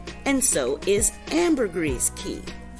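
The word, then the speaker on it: caye: so is Amber gree key they're all pronounced key no matter how they're spelled and a key is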